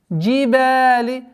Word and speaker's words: الْجِبَالِ: Джибали. Удлинение в размере двух огласовок фатхи. وَإِلَى الْجِبَالِ. Нужно обращать внимание, чтобы при произношении лям с сукуном не произносилось свойство взрывность.